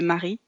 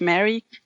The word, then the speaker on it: Marie: it Marie well yeah in French you would say Marie but I'm pronouncing it the English way like Mary yeah I know my